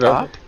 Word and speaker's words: Kop: So you're Cop? How can I Well, as long as you don't call me Coop, I'm fine.